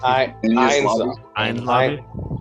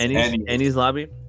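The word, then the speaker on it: Enies Lobby: Did I pronounce that correctly? For my one. Ain's Lobby. Ain's Lobby. What? Enni's Lobby. Don't listen to me. No, isn't it Ain's Lobby? No. Ennies, bro. No. Ennies. It's Enni's Lobby.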